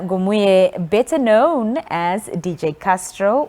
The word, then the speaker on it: Ngoimue: It's actually Ngoimue. Yeah. Why do you pronounce it like that?